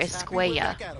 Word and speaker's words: Escuella: okay if javier's last name is spelled with two l's it would be javier escuella because two l's in spanish makes a ya sound of course i'm ready